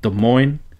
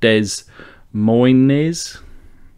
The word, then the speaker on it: Des Moines: So this is in Des Moines, Iowa. Now, I could have pronounced that Des Moines, but I know Des Moines, Iowa, I believe, are the home of the band Slipknot.